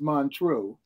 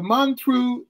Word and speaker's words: Montreux: up next all right the Mantra sometimes mispronounced Montreux but the man through jazz festival was founded